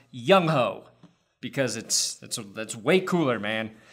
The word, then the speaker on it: Younghoe: after Chargers kicker Younghoe, and his name is pronounced Younghoe. I don't care how the announcers say it, Youngwei. I don't care if that's how every Korean person on earth says it. In America, it's pronounced Younghoe because that's way cooler, man.